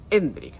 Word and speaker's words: Endrick: han dejado claro que es Hendrik. Hay que poner el acento en la E del principio y no Hendrik.